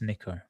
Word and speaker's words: Nika: So as you see on leaderboard, it's written Nika but pronounced Nico. So Nico, who we highlighted last week actually from being at the Crown events.